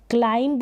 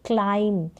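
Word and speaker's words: climb: क्लाइंब नहीं बोलेंगे, हम बोलेंगे क्लाइम, एम पर ही जो प्रोनाउंसिएशन है, जो उच्चारण है वो फिनिश हो जाएगा, वहीं पर आप उसको रोक देंगे।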